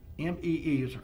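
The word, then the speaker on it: Mee: Restaurant co-owner, M-E-E, I guess pronounced Me, and her last name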